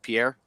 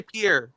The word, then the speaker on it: Pierre: it's about 60 miles southeast of Pierre Pier South Dakota we don't say Pierre Pier whatever I also say Illinois I'm